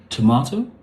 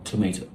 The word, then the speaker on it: tomato: Anyway, so this is a tomato or tomato. Tomato. I think the British say tomato, the Americans say tomato. Either one is fine. I think tomato is easier to say. What is not correct is tomato.